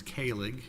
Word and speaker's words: Kahlig: I refer to them as Kahlig, and I refer to the defendant just as